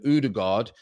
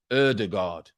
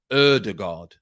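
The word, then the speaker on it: Ødegaard: tell you um i've spent years in scandinavia udegard is pronounced erdegaard okay so we've got about i thought it was older god i changed that to udegard and now it's erdegaard i was saying udergaard so erdegaard there you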